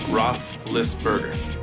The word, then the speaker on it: Roethlisberger: Marino, it's Ben Roethlisberger.